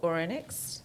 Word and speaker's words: Ouronyx: Ida owns and is in charge of Ouronyx. Am I pronouncing it correctly? Correct, you pronounce it Ouronyx, perfectly.